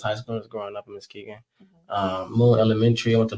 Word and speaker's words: Muskegon: You're from Muskegon, Michigan. Muskegon. That is crazy. I said it right the first time.